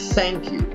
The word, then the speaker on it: thank you: Thank you. La palabra thank you significa gracias. Importante, se pronuncia con una Z.